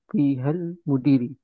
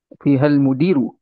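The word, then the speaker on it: فيها المدير: Jadi bacanya fiha, Fihal mudiri. fihal, Ya, Ustaz. Fihal mudiru. fihal mudiru betul. Jangan mudiri.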